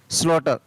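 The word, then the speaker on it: slaughter: For example SLAUGSTR, SLAUGSTR, तो इसको क्या पढ़ेंगे, स्लॉटर, क्या पढ़ेंगे, स्लॉटर।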